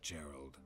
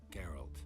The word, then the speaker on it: Geralt: Not Geralt. Garalt. This is what I got in trouble for, pronouncing it as Geralt instead of Garalt.